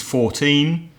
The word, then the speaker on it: fourteen: the first syllable but numbers in isolation how old is your daughter oh she's fourteen the stress is on the second syllable for numbers in their teens Craig do you often